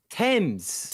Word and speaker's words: Thames: How do you pronounce it wrong? Like? Now, what is it then? Thames.